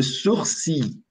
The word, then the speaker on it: sourcil: Le sourcil. Le sourcil. Observe que o R aqui não é pronunciado. Ó. Só tem um, dois, três, quatro, cinco sons.